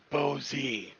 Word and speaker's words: Boese: Uh, Diego, it's Bozy. I guess that's the way it's pronounced in the American language, but if it was